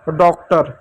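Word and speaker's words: daughter: पर ध्यान देना पड़ेगा नियम क्या कहता है कि ए यू के बाद यदि जी एच टी आए तो ए यू को औ की मात्रा पढ़ेंगे और जी एच साइलेंट होगा। तो चलिए इसको अभी हम ट्रांसलेट करना स्टार्ट करते हैं। डी का हमने ड लिख दिया। तो डी हमारा खत्म हो गया।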